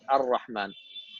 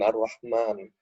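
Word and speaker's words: الرحمن: Okay, so here we don't write the alif, but we pronounce it. So there's like a Really? small alif. Yeah. Oh, at the top. Yeah, so there's like a small alif on the top, but I couldn't find it.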